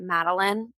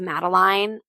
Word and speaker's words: Maline: The amount of times we get Meline instead of Maline.